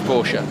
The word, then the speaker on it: Porsche: the other one a Porsche is one that a lot of people argue about his new Porsche is correct Porsche or Porsche it's Porsche yeah but that's the odd